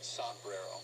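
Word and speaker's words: sombrero: this called saero a saero I don't even know if I'm pronouncing that right you're not pronouncing it right okay how do I say it s brero oh ala Mexico honey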